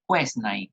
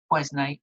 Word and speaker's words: Quesnay: La palabra circulación económica la llega a plantear el más importante de los fisiócratas, que es François Quesnay, que se escribe Quesnay, ¿no? François Quesnay o Quesnay, el cual junto con Turgot se consideran los dos principales pensadores fisiócratas.